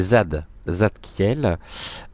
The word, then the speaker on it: Zadkiel: Ça s'écrit pas comme ça, mais c'est Zadkiel.